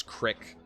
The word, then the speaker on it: creek: Back Country Colorado so he pronounced Creek as Crick W wolves as wolfs